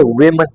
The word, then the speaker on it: women: तो this is actually विमन, विमन किस तरह प्रोनाउंस करेंगे? women.